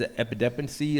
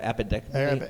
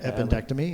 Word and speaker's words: appendectomy: Yeah, he had his epidectomy. How do you say that? Appendectomy. Appendectomy.